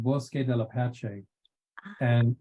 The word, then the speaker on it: Bosque: That's actually Bosque. Oh, Bosque. Okay. Yeah. My pronunciation, I'm Indian by culture and by birth, so my pronunciation is very different. I can see why people would think it's Bosque, and that would make perfect sense.